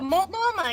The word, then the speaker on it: Multnomah: Yeah, Multnomah, you said it right.